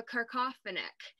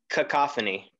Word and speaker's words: cacophony: means to have a carcoffinic for instance jared was explaining am i saying it correctly there's no r this is cacophony confidence yeah nick yep